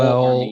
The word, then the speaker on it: Joel: yeah, because It's I've always Joel pronounced it Joel Yoel. Armia. Yeah, Everyone's saying it's Joel Joel Armia. Yoel. I'm like, that's not right.